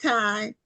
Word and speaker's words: Tiye: So now is your is this pronounced Tai? Yes. Or Okay. Okay. Because I didn't know if it was two syllables and so I didn't. Okay. Ty.